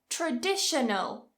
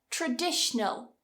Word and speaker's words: traditional: Traditional. 4 syllables. Traditional. Cut one. Traditional.